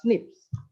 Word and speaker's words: SNP: most common one is the single nucleotide polymorphism snp or we can pronounce it as slips so like in the